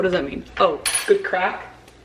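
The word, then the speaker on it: craic: Oh, good crack. But it's C-R, how do they spell it? Like C-R-A-I-C, good crack, which means you like crack on, like you can talk really well with someone, I think.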